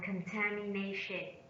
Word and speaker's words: contamination: second syllable and the now contamination contamination contamination step on the fourth syllable pollution pollution pollution step